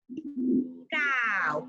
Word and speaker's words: cow: Cow, cow, con A. Se escribe con O, pero se pronuncia con A.